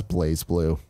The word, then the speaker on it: BlazBlue: and then about says blazblue is pronounced as place blue China alright love you